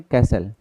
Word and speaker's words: कैसल: इसमें इसे क्या पढ़ेंगे? कैसल cash cell. कैसल ऐसे पढ़ लो। कैसल तो इसका मतलब क्या है? इसमें टी साइलेंट है।